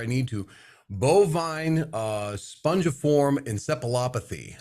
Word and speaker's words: encephalopathy: Bovine spongiform encephalopathy. How did I do? You did pretty good. You know, the PH is sounded as an F, but that's okay.